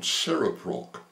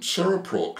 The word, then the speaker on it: CereProc: suggested I make contact with a company called Seraprock. Now Saprock is spelled uh C E R E P R O C. C E R E P R O C. and Saraprock have developed a remarkable texttospech software facility that